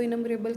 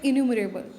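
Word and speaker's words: innumerable: सके, इनम्बरेबल, ठीक है, आम भाषा में इसको इनम्बरेबल कहते हैं और इसका प्रोनाउंसिएशन है इन्यूमरेबल। टू माई इन्यूमरेबल comrades and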